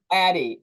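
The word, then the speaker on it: Addyi: it Addy what is the how do you pronounce that Addie okay and what should people with breast cancer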